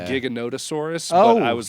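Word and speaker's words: Giganotosaurus: Is I called it Gigantosaurus. Oh yeah. Okay. They call it like gigantic. It's giganottosaurus, but I was like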